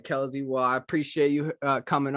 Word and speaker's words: Kelze: So, last question here, Kelsey. Is it? So, I wanted to also pronounce her name correctly. Is it Kelze or Kelsey? How should I It's pronounce it? Kelze. Kelze. All right, Kelze.